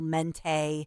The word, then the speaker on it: Menti: So you can only met mental, mente. Yeah. Rhymes with vente. Mente.